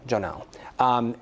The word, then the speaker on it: Jon'al: Am I pronouncing that correctly? Jon'al. Jon'al.